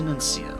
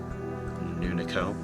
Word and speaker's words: Nuncio: And then head up to Nuncio. Totally missaid that in. I know I spelled it right there. I just keep on mispronouncing Nuncio. Nuniko. That would be with those 2 reversed.